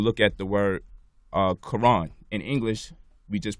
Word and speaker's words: Quran: at the word uh Quran in English we just pronounce the k and the Q the same exact way but the Q is supposed to be pronounced like from the back of the throat like when we make